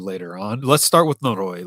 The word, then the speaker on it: noroi: And yes, those words were, correct me if I mispronounce them, noroi and tatari.